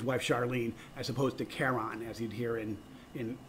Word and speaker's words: Charon: could not connect and the correct pronunciation would be Karen but Jim Christy who